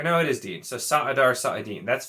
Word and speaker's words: saidar: just being overpronounced and if you look at it phonetically it's actually apparently sa dar and sa it di saadan so not even saidar